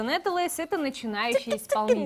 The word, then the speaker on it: Нэтэлэйс: В гостях у нас, никнейм его произносится Нетелейс. Это начинающий исполнитель. Нетелейс.